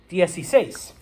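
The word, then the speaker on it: dieciséis: and with the saying we smoosh it all together so that this becomes okay yes he says okay um but it starts off as 10 and 6.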